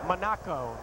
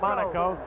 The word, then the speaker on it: Monaco: I want to say that the right guard is Joe Monaco, not Monaco, because his parents let us